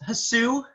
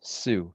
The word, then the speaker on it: Hsu: for the record it's su the h is silent pronounced like sue definitely not hatsu are you sneezing or